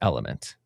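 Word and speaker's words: LMNT: Um, but it's pronounced element.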